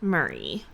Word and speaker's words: Murray: I think it's Murray. That's like how you pronounce that last name. Murray. Yeah, like Bill Murray.